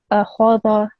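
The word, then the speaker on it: أَخَذَ: Just the kha again is a thick and round letter, so make sure that that is thicker when you recite it. So it should be akhadha, Akhara.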